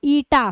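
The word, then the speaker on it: eta: ये वाला लाइन नीचे ड्रॉ करो इसको कैसे प्रोनाउंस करोगे ईटा ठीक है ये क्या है यह है विस्कोसिटी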